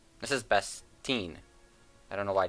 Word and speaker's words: Bestine: Actually, someone would be my girlfriend who yelled at me for pronouncing it terribly wrong. And for some reason, I called this Bespin. This is Bestine.